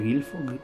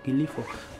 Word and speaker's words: glifo: Glifo dorado, no se dice gilfo. Glifo, va.